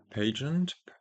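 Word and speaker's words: Pageant: Now here I think we either go for another overlord or for a pagant page. Yeah, pagent is that is I think the correct pronunciation.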